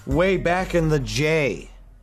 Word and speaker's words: Jay: way back in the Jay because my name rhymes with day start at the beginning